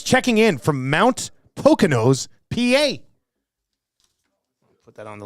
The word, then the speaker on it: Poconos: Could be a lot of Poconos, like poking a nose. Is that how it's spelled? I don't even know. Poconos. Apparently, according to Poconos. According to Poconos, you think that's what it is? It's not the Poconos. It's got to be the Poconos. Maybe the S is silent. Has to be, I think.